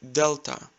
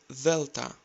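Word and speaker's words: δέλτα: You've heard it like delta. Replace D with TH and say delta, delta.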